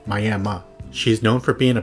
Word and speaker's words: Miami: The city is spelled like the Miami in Florida, but I've been informed it's pronounced My-am-a.